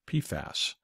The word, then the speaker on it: PFAS: 4,000 plus molecules and is abbreviated pfas and pronounced pasas this poison continues to